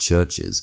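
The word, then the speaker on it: CHVRCHES: Well, I assume it's pronounced Churches, but it's just spelt with a V instead of a U.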